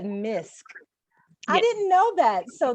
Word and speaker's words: M.I.S.C: it's a beautiful thing and it's you said misk i didn't know that so that's what you